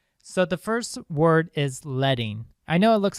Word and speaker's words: leading: be about spacing so the first word is leting I know it looks like leading but they say the they pronounce it leting in typography so leting is